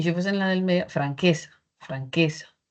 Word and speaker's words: franqueza: identificamos la sílaba tónica, pruebe en cada una de las sílabas, ¿no? Si fuese, por ejemplo, en la última, podría ser franquesá. Franques no es así, ¿cierto? O si fuesen la primera podría ser franquesa. Franquesa tampoco. Franquesa tampoco.